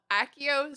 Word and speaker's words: Accio: I've been told by my friend who has studied Latin that Accio is actually like the Accio. most Latinate pronunciation.